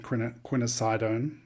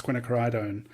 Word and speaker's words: quinacridone: It was funny in the beginning of recording the class, I was saying quinasidone, and then Terry, it was like it's quinacridone one Tuesday, and I was like, whoops, I've already recorded videos where I'm just mispronouncing it.